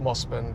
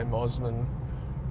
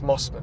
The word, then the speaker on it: Mosman: And it's pronounced Mosman, but some people say Mosman.